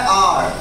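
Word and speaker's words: hour: अब जरा ध्यान से देखिए, इसका सही प्रोनाउंसिएशन होता है आर और इसको बोलते हैं हॉर्स।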